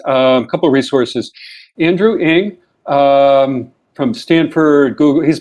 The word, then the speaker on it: Ng: if you just google andrew ing his last name is spelled engie um and then uh